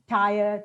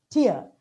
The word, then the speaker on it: tier: bought talk about uh three tire two tire it's actually tear but you know mind